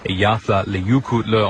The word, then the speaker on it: Eyjafjallajökull: Pronounced Eyjafjallajökull.